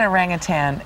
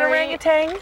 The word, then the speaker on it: orangutan: Yeah, that's it's not orangutans. No, there's no G on the end. That's very common mispronunciation of the word.